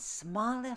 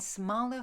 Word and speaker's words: smalle: half-course I runna, and smalle fools maken melodia. Your edition is missing an E between the W and the L there. That's why you're hearing me say it. And smalle fools maken melodia, that